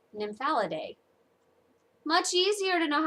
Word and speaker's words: Nymphalidae: She misspelled it. Instead of EA that she spelled, it's supposed to have an AE, which would make it Nymphalidae.